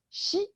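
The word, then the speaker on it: 夕: 对，那个 inkstand 啊，然后呢还有纸啊，对 paper 对。好，第13个字，名牌，名呢 on the top it's the character for new moon crescent pronounced by itself as xi.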